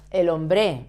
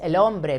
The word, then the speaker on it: hombre: It's not el hombre, it's el hombre because it ends in vowel.